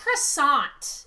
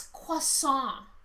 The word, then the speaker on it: croissant: do that though okay it's french that's not how you pronounce that it's not croissant it's croissant that's the kind of